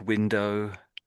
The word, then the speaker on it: window: Although there's a W on the end, I tend to imagine that it just ends in an O, and I'm saying the letter O, like O. So really, the W isn't really doing anything on the end, is it, if you think about it?